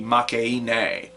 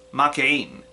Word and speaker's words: Makeine: See, if you were to pronounce it with like Japanese pronunciations, it would be Makeine, but it's a portmanteau of make or or Makeine, I think, and then a heroine. So it's Makeine.